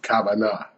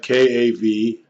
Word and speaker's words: kavanah: This video is about the concept in Judaism of kavanah, which is spiritual intentionality. In English, you might spell it K-A-V-A-N-A-H, kavanah.